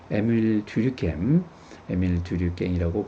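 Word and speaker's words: Émile Durkheim: 에밀 듀류갱이라고 발음할 수도 있는데요. 프랑스 사회학자가 한 얘기입니다.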